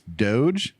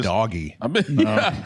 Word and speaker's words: Doge: I've been waiting to hear someone pronounce it. It's Doge. Dogecoin. Doge is Dogecoin. Dogecoin. I've been calling it doggy.